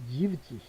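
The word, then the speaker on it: siebzig: 자 20반 30 40 피지 50 60 자 이것도 S가 빠졌죠. 지히 70 지브지 이것도 지벤지가 아니고 지브지히 80 아 90인지 자 그다음에는 아까 말한 대로 이제 운트를 중간에 넣어 주면서 이렇게 있습니다.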